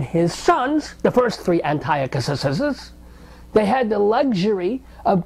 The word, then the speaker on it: Antiochus: I'm going to pronounce it the Hebrew way. Antiochus, Antiochus, anti-filthy, anti-Semite bastard Yochus.